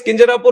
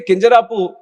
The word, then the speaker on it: Kinjarapu: And when some people say Kinjarapu, there might be some problem with them. They can't pronounce it the way I pronounce it. But that doesn't mean that I'll change my name so that it becomes easier for them.